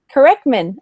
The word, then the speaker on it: Kerecman: because I can never say it right a corkman Corman okay cool I was saying it totally wrong